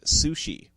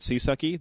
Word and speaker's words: CSUCI: a dolphin correct yes named sushi which is how they want you to pronounce csuci rather than calling it sisaki they want you to pronounce it sushi sushi sushi all right